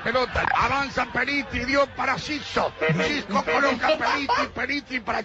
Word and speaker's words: Xisco: respondeu com bom humor e ensinou Kesman a pronunciar corretamente o seu nome. Olá a todos, que tal? Sou Xisco.